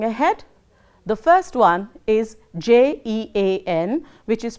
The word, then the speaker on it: Jean: So, we will have to learn that, and going ahead, the first one is Jean, which is pronounced as Jean.